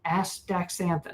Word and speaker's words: astaxanthin: on the show and I can't you know astaxanthin. Yeah, that's a tough one. That's that's how you pronounce it.